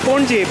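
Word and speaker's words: Ponnje: the funniest is that the actual name, what is on everyone's lips in the local language, is pon'nje, pon'nje, P-O-N-J-J-E, which is very different from the English, from the Marathi versions of it.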